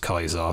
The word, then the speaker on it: Caesar: this is the kaisar it spelled Caesar but pronounced kaisar obviously you know two